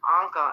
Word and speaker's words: Anca: He's like, oh, how do you say your name? And I was like, Anca.